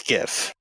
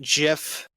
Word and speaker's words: GIF: of gif or Jif no it's gif if you pronounce it jiff you should be put on a cross and nailed to it the end SunnyD colberto